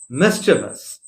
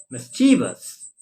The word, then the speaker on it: mischievous: right and now we come across another word m i s c h i e v o u s it is pronounced mischievous m i s c h i e v o u s is not it is not mischievous okay oh